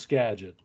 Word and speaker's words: Skagit: Well, it was either Skagit or Skagit, but I think it's Skagit. It's pronounced Skagit. Yeah. At least according to Wikipedia.